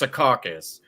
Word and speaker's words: Secaucus: But it's kind of like there's a city in New Jersey called Secaucus, right? But sometimes people call it Secaucus, right? But it's pronounced Secaucus.